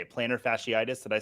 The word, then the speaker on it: plantar fasciitis: Plantar fasciitis.